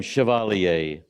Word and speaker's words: Chevalier: there we go yes I love how you say my last name Chevalier so I get asked the question all the time how do you say your last name right so if you're older here today you have probably heard of an Entertainer named Maurice Chevalier and a year around